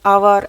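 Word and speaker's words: hour: 15 number, the train left dash आवर अगो। आवर में भी S silent है, हावर नहीं पढ़ेंगे, इसे आवर पढ़ेंगे।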